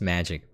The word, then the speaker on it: Magiq: i was really stupid i was like magiq that's weird it's just magic but it's spelled a little weird it's magi and uppercase q published by cacao games